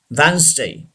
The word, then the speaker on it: Wednesday: The last word Wednesday. Wednesday. Wednesday. D should be silent.